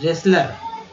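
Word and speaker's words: wrestler: पहलवान, रेसलर, रे रे रे, डब्लू जो है यहाँ पर साइलेंट है, ये साइलेंट वर्ड है, याद रखिएगा, डब्लू जो है साइलेंट हो गया है।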